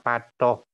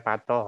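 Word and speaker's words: Pathuk: Tapi tulisannya Patoh, orang-orang luar Jawa bacanya Patoh, tapi orang Jogja bilangnya Patoh.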